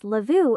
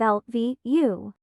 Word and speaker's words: LVU: of our eight heroes I'm not sure why this stupid voice thingy pronounces it as lavu instead of l v u oh actually I can